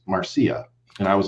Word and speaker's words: Marcia: I posted a video about Marcia fudge, and I was pronouncing it Marcia because it's spelled Marcia. Okay. And somebody corrected me and they said, well, actually it's pronounced Marcia.